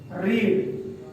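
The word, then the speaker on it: read: रीड। ठीक, second form रेड और third form रीड। तो रीड, रेड, रीड spelling same रहेगा, पढ़ेंगे क्या उसको? रेड।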